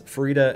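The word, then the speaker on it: Farideh: It's pronounced Farida? I was pronouncing it Faraday the whole time. No, it is officially pronounced Farida, at least according to Aaron M. Evans, who said it's Farida as in fajita.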